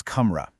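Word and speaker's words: कमरा: For a ton of masculine nouns, you're going to be listening for an a sound at the end. See the example, one room is kamra, but when you have multiple rooms, it becomes kamre. That shift from a to a is a massive clue.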